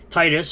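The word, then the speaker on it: Tidus: English voice actor of Titus from Final Fantasy 10 yes that is the right way to say it as well as he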